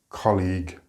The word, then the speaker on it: colleague: the J sound here in colleague there is no J sound and it doesn't sound good if you uh don't pronounce the Le part correctly so again it's colleague conversation and discussion have